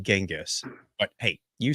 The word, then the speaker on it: Genghis: But um they're saying that the Mongolian way to pronounce it was Changis and somewhere in the Persian translation years later it became Genghis.